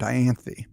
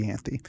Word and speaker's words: Ianthe: There is a beautiful woman there named Ianthe, or Ianthe. There's two different pronunciations of it, but I'll say Ianthe.